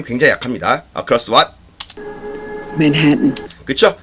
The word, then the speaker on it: Manhattan: Manhattan. 그쵸? Manhattan, Manhattan 그러지 마시고요. 지금 맥이 발음 들어보세요.